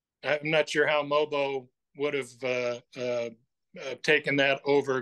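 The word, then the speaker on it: Mogbo: Jonathan Mobo, I keep trying to mispronounce his name. The G is silent.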